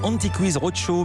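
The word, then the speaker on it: Antiques Roadshow: Anti-Quiz, ça se prononce à l'anglaise. Anti-Quiz Roadshow, magazine britannique emblématique inédit en France.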